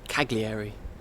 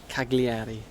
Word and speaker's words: Cagliari: ask any european and you ask them to pronounce this place especially the english they'd say cagliari which is absolutely wrong cagliari where the gli is actually so i find